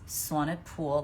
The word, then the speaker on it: Swanepoel: We have the most gorgeous guest today, Candice Swanepoel. That's how you pronounce her name is Swanepoel, like a pool.